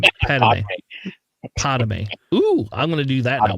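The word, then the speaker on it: Padmé: No, we were yelling at you to finally just pronounce Padme correctly. No, Padme. Pame.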